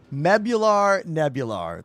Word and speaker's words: Nebular: Nebular, whose name I was mispronouncing. Nebular.